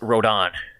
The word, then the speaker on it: Rodan: pronounce it your way it's pronounced Road on Dan it is within I heard it pronounced Road on well Japanese you know